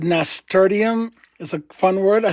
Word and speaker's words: nasturtium: Someone said nasturtium is a fun word. I think I pronounced it. Nasturtium.